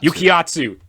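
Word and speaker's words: Yukiatsu: just popo quotes um uh yaikatsu did i pronounce that right yukiya yukiyatsu yes okay yukiyatsu um crazy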